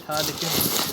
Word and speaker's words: Harlequin: I know I'm saying it Harlequin. That is how it is pronounced.